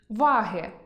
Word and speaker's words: ваги: Прочитайте пари слів зі словорозрізнювальним наголосом. Розгляньмо значення деяких із них: вАги (пристрій) і вагИ (кого?